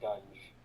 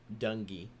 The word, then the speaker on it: Dungy: Can I lobby for the pronunciation to be Dunge? Nope, Dungy.